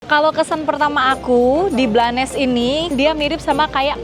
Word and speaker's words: Blanes: Sekarang aku udah ada di kota namanya Blanes. Jadi bacanya 100% Blanes ya, Guys. Bukan Blends. Kemarin aku sempat baca Blend, ternyata bacanya Blanes.